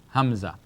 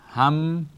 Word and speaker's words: hamza: Short, like this, short, small, hamza. All right, the song, it's pronounced like this, hamza.